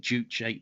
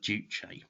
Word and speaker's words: Juche: in the korean language is a word of two syllables and uh in you know does explain in korean language one character uh one written character represents a syllable so it's two syllables jew which roughly translates as master and che which means body or oneself so it means master